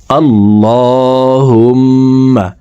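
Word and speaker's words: اللهم: আমার সঙ্গে বললে আপনাদের এই তারাবিহ নামাজের মোনাজাত মুখস্ত হয়ে যাবে এবং সহিহ শুদ্ধ উচ্চারণ হয়ে যাবে। দেখুন আল্লাহুম্মা। আমরা এখানে আল্লাহুম্মা পড়ে থাকি।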